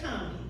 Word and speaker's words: Combahee: certainly in chronological order, I'm going to say Combie, because I'm from Cleveland, but if you correct my pronunciation, I'll receive that.